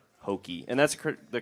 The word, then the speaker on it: HOKY: Hoke playing IDs which is also coincidentally called hokei and that's the correct pronunciation right yes yeah it's hokei Hoke okay all right have everybody situated did